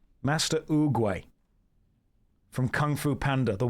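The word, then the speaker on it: Oogway: Master Ugay from Kung Fu Panda. The wisest of us all. Sounds just like it is spelled.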